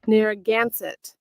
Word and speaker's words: Narragansett: Ask her how to pronounce this, because we're about to see what Esau say, but ask her. Narragansett.